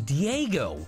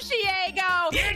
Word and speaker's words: Shego: I don't like you thought her name was Diego that is the dumbest where is the eye